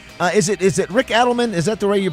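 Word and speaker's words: Rick Adelman: Uh is it is it Rick Edelman? Is that the way you pronounce it, Christian?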